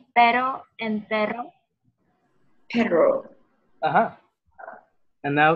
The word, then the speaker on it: pero: Because you can say perro instead of pero.